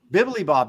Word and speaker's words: Bibilibob: Bibilibob, that's right.